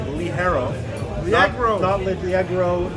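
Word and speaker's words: ligero: eyes fuller body lead herro lig e ro pronounced Willy Harrow black chrome outlet 3x Rove not Leggero arrow you can pronounce whatever you want to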